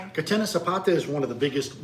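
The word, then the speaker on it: Catena Zapata: Um, Katina Patina Sapata. What? And now what is that? Katenna, excuse me, Katenna. Okay. Katenna Sapata is one of the biggest wineries in in in Mendoza.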